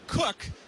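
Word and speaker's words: Qooq: I think we're going to start off with something called Cook, but it's spelled Q-O-O-Q.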